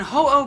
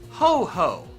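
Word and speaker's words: Ho-Oh: ground on or Groudon and hoo being called ho ho because apparently a lot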